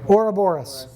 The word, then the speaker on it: Ouroboros: Ouroboros.